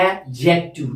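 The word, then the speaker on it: adjective: हमेशा याद रखना डी इज ऑलवेज साइलेंट, इसलिए हम पढ़ते हैं एडजेक्टिव।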